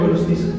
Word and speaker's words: Gorostiza: ¿Cómo se escribe Pero Gorostiza?